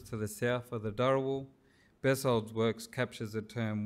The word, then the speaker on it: Dharawal: institutions in McKenzie's thorough which we pronounced durable today warrawari is documented as